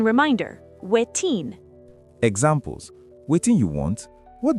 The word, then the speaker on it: wetin: Pronunciation reminder, wetin.